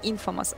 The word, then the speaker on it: Imfamous: Да, кстати, правильно говорить Imfamous.